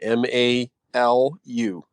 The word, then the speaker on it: Malu: your question i'm sorry if i'm saying your name wrong m-a-l-u and then unhappy emoji go ahead that's okay uh it's malu hello okay go ahead um i really love the